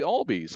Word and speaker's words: Albies: It's like, it's actually Albies. I'm like, oh goodness gracious! So I said one of our top prospects name wrong for several weeks.